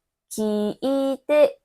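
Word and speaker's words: お母さん: La voyelle de « ka » dans « Okaasan » est « a ». Il y a une voyelle « a » à côté. Alors étirez-le et prononcez-le.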